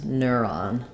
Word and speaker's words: neuron: So this is an ner, and this is an ah, first syllable stress, neuron.